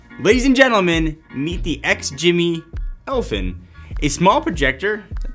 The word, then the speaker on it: XGIMI: guess you can ladies and gentlemen meet the ex jimmy elfin a small projector that packs a pretty decent punch but you've probably never heard of x jimmy and if you had maybe you wouldn't know